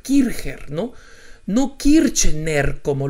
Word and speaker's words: Kircher: conca y se h como suena kirchherr era de origen alemán y en consecuencia se debería pronunciar kircher no no quiere tener